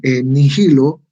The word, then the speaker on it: nihilo: Nihil, o sea, la H no, es muda, ¿ya? Pero nos sirve para darle un poquito más darle una acentuación a la I, ¿no? Es más larga la I, ¿no?